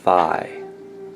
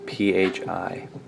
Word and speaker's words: Phi: It is called Phi, P-H-I, or Phi. It might be Phi. Phi or Phi, but it's spelled P-H-I.